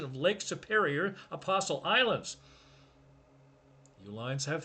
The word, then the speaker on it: Uihlein: father, Elizabeth and Richard founded Uihlein, different spelling than their name. The company that was founded was spelled Uline, same pronunciation.